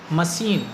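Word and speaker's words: machine: ठीक इसी तरह से नीचे हम देखेंगे मशीन, मशीन में भी CH है, लेकिन CH का प्रोनाउंसिएशन हम सा करते हैं।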